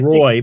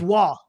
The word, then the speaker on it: Roy: pronounce it Hill okay everybody says Patrick Roy but it's not Patrick Roy it's wall ex exactly but uh so